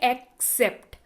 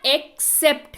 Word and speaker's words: except: एक्सपेक्ट होता है, ध्यान से सुनिए मैं जो बोल रही हूं, उच्चारण सुनिए. एक होता है एक्सपेक्ट और एक होता है एक्सेप्ट. तो ये एक्सेप्ट है, यानी कि के सिवा या के सिवाय.